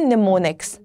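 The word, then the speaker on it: mnemonics: right IT with M लेकिन इसको आप कहते हैं निमोनिक्स निमोनिक एन से स्टार्ट होता है एम साइलेंट होता है तो ये जो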